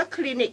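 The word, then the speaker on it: Clinique: ใช้ นะ คะ อ่ะ ของ คลินิก ค่ะ พี่ น้อง คะ อ่าน ว่า คลินิค นะ คะ ราคา เท่า ไหร่ ดู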